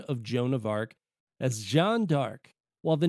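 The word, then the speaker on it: Jeanne d'Arc: name Joanna dark was taken from the French pronunciation of Jona AR as Jean dark while the name of the in company data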